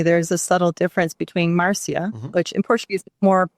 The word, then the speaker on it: Marcia: So your background from Brazil, being from California, obviously we have a lot of, Latina people that, would pronounce Marcia. Yeah. But that's not how it's pronounced. Marcia.